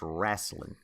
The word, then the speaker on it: wrestling: It's pronounced wrestling. Wrestling? Wrestling. Wrestling. Wrestling. There's an A all in there.